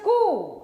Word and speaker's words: coup: jail it's a coup it's a coup it's not a poop if you say poop